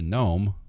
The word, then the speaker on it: Nome: those who don't know is there a silent g in that name nope it's n-o-m-e oh wow there's a silent e know me no uh